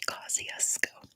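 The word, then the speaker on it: Kosciuszko: something like that but people in Australia don't know how to pronounce it so they say kusco so yeah it comes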